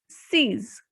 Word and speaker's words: six: numbers so let's see number six is seas here x will be pronounced as joe sees in number 7 p